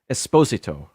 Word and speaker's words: Esposito: I've heard him say it both ways. I think he's of Italian descent, so if you're going to say it correctly, it's Esposito.